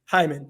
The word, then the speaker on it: Hyman: How do you pronounce it? Hyman, yes. Hyman, yeah, he's over 200 yards, about 5.5 yards per carry.